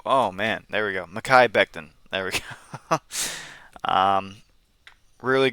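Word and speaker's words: Mekhi Becton: Mai Beckton.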